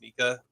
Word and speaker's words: Micah: I didn't really understand that moment or that mention, but the fact that his name is spelled Micah and it's Mika, I think deserves it.